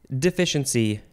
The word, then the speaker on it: deficiency: e n c y I spelled it because there's the sh sound in the middle and I wanted you to know that it was not spelled with an sh deficiency is a noun from